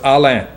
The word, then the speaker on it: Allain: No, it's Allain. Okay. Old French family name. You know, a lot of people say Allain.